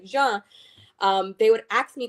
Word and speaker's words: Jean: Or they would ask because of my last name, which is pronounced like Jean.